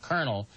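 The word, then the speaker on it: colonel: George Bernard Shaw said no language that pronounces Co L o ne L kernel is perfect but English has by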